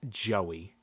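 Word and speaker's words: Jowy: I think it is supposed to be pronounced Joey. Like, close to the normal name Joey, but not exactly. In fact, early translations in magazines spelled his name Joey. Because the W, I tend to pronounce it Jowie.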